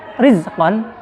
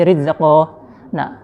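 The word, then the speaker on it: رِزْقًا: Rizqan di sini dibaca tarkik. Ri, bukan ri. Nggak mungkin juga.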